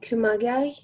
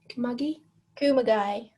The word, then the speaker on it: Kumagai: We've got Caroline Graham Hansen, we've got Pernal Harder, we've got Jennifer Hermoso, we've got G, Sam Kerr, Sahi Kumagai, is it? Kumagai.